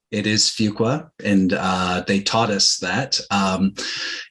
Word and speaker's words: Fuqua: It is Fuqua, and they taught us that. It was such a silly thing because it's pronounced in different ways.